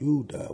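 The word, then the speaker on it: Yehudah: like the descendants of yahuda yudah which is the true pronouncing pronunciation of Judah so they're trying to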